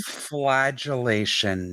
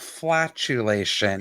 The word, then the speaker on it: flagellation: stick into their skin flagellation not flatulation correct i am dead